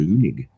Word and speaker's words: Leunig: So, uh correct pronunciation, too. Named him after the Australian cartoonist Michael Leunig.